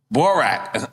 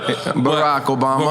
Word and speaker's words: Barack Obama: you was to pick Borat and say, yo, I just feel Obama, come back as my vice. I was like, Borat? Yeah, my bad. I fucked up the way I pronounced it. Barack Obama.